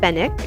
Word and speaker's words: Fenwick: And then I passed Fenwick. Apparently the W is silent, and just thought this whole like unquiet luxury display was hilarious.